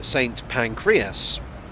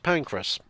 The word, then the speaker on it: Pancras: pronunciation of saint pancras he was certain that it was saint pancreas he was wrong about this i explained that it's named after an actual saint named pancras he disputed this as